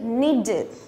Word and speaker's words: needed: Thì khi mà thêm ed vào thì ed sẽ được đọc thành it, đọc là need, needed. Đó, tương tự, ví dụ